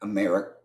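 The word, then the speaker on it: Amerikkka: It's still America. It's just America with three Ks instead of a C and it says America.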